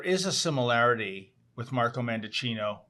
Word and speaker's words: Mendicino: a similarity with Marco mandicino rhymes with Pinocchio by the way um